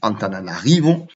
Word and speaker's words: Antananarivo: Tana, c'est Antananarivo, ou Antananarive, sans prononcer le O à la fin.